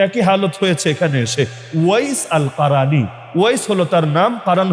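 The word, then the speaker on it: أويس القرني: এমনকি ওয়াইস আল কারানি নাম শোনেন নাই? যারা আপনার ওয়াইস কুরুনি বলেন আর কি।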